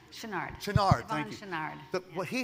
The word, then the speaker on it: Chouinard: Chouinard? Chenard. Chenard, thank you.